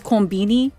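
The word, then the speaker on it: コンビニ: I'm going to con refer to convenience store by the way as combini because that's just how they say it over there.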